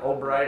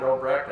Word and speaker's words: Obrecht: home area up here they pronounce it oh great i pronounce it Obrecht it's the same guy